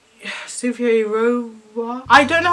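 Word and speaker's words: Cynthia Erivo: It's Cynthia Rova.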